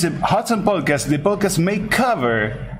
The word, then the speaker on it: Hotone: He's pronouncing Hotone in the right way because we trained him earlier. He was saying hot one, that hot one. And we teach him it's not hot one, it's not whole tone,